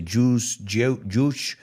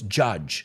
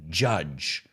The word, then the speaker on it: judge: heard people mispronounce it i've heard people say jews like so it's judge say it with me judge don't judge me no